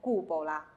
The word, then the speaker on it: cupola: 学的时候就要念成 cupola cupola。